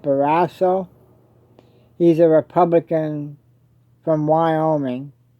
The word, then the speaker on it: Barrasso: Senator John, I believe you pronounce it Barrasso.